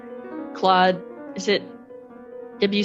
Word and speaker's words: Claude: him claude claude's music and it's actually cloud is it actually i'm